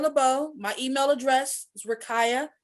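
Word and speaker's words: Rakiyah: um you can reach me my name is rakaya lebeau my email address is rikaya spell it r-a-k-i-y-a-h at coleman dash equipment dot co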